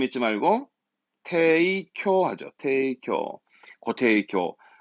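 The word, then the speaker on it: 提供: 그래서 10% 할인으로 제공, 발음 잊지 말고 테이쿄 하죠.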